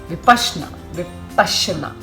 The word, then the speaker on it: Vipassana: you're going to be given the vasna technique vashna with Pasa that's the actual correct pronunciation uh I opted for the Hindi version